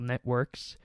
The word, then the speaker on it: NetWorx: So this is a Windows application called Networks. It's spelled with an X rather than a KS, so NETWORX.